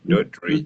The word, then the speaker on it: Doddridge: It's a two-syllable name, by the way. Doddridge, Mm-hmm.